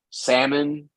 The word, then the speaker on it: salmon: Almond, calm, salmon. You don't pronounce the L when it's before M.